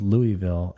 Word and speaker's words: Louisville: glad that we settled Louisville is the correct way to say it well I think more people say Louisville than Louisville but yeah a lot of people do say Louisville okay talk to you